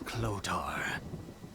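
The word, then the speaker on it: Clothor: right clothes are made that sounds like low Thor mate low Thor little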